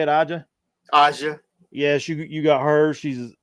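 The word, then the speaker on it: A'ja: Aja.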